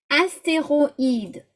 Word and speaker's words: astéroïde: Astéroïde, roïde, yeah, in 2 syllables.